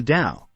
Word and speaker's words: Dao: the logos is the Dao simply stated the Dao pronounced da is the creative conscious